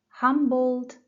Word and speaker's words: Humboldt: Talia, first syllable. Humboldt Park. Humboldt Park.